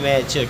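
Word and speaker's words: match: लिखेंगे लिसन अगला है एम ए टी सी एच यहां टी सी एच से पहले आया है एस सीस से पहले टी आया तो उसे पढ़ेंगे मैच टी साइलेंट है अगला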